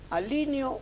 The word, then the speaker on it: alineo: ¿Alineo o alineo? ¿Es uso esdrújulo o es grave? Por la analogía con línea, pronunciamos mal el término. Es un término grave.